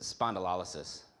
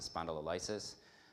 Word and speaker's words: spondylolysis: I've heard some people pronounce it spondylolysis. As you see it more often, you kind of just shorten it up to spondy, just because it's easier.